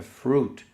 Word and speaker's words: fruitful: Olha a pronúncia aqui de fruitful, não é fruit, é fruit. O I no inglês quase nunca você vai pronunciar esse U junto aqui, tá? Tom Cruise não é Tom Cruise, tá? Tom Cruise, né? Fruta, fruit, suco, juice. Quase nunca você vai falar esse UI aí.